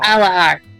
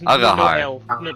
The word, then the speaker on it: Agahar: Alahar. It's Agahar. no L in it, just Oh, it's Arahar.